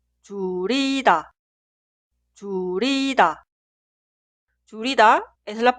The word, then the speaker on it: 줄이다: 줄이다 es la pronunciación correcta. Nunca se pronuncia 줄이다.